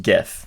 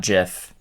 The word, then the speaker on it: GIF: Also, it is pronounced GIF, not GIF.